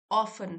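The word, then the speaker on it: often: तो सच्चाई तो यह है वी ऑफन ऑफन फिर से यह वाला वर्ड आया है ऑफन टी साइलेंट है वी ऑफन डोंट सी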